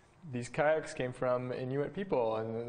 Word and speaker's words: kayak: Kelly Fraser recently told me that kayak is actually pronounced kayak, because it's an Inuit word.